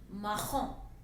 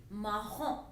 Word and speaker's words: marron: Maroon in French is marron. Marron. Again nasal sound, on is on, so it will be marron.